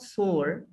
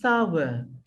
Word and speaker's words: sour: word s-o-u-r my child this is not sore this is sour salva okay sour means